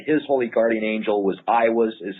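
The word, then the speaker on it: Aiwass: that he said his holy Guardian Angel was IAS is how he pronounced it is that correct oh yeah iwas yeah iwas now H how would one actually make contact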